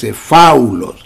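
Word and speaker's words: phaulos: Se escribe P-H-A-U-L-O-S, faulos, que significa malo en cuanto a inutilidad, pero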